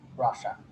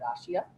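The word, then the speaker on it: Russia: টুতায়েভস্কি district in central রাশিয়া। এই শব্দটাকে আমরা একটু মিসপ্রোনাউন্স করে থাকি, এটা ইউজুয়ালি আমরা বলে থাকি যে রাশিয়া। রাশিয়া না বলে আমরা বলবো রাশা, রাইট, ঠিক আছে।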